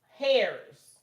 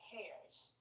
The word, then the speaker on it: heirs: When we believe, we become heirs. So according is heirs, not hairs. What? It's okay. The H is silent.